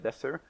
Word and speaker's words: Defur: coming up, you can follow me at Defur, and yes, that's how you pronounce it.